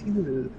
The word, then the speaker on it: Hinata: It's not Hinata. It's Hinata. Yeah, that's how it's pronounced.